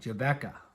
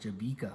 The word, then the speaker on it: Jabeka: you know brilliant me jebecca farms right away my wife says ah you know tyler no everybody will pronounce that jabika farms i'm like oh no